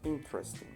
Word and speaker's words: interesting: Se escribe interesting. Se pronuncia interesting. Si escuchan bien, el énfasis está en in, Trusting, trusting.